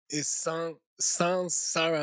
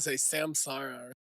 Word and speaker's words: Saṃsāra: all, the correct pronunciation Pertama-tama, pengucapan yang benar adalah is sansara, like S-A-N, not S-A-M. sansara seperti S-A-N, bukan S-A-M. You hear a lot of people say samsara.